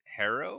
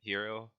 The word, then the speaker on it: Herro: they get they select Tyler was it herrow tyer Tyro no Tyler herrow guard of Kentucky right hero oh hero yeah hero Tyler hero yeah I can't pronounce